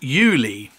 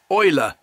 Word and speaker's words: Eule: she says it's pronounced yuli yuli except it is a german word for owl that means it's actually pronounced euler so as far as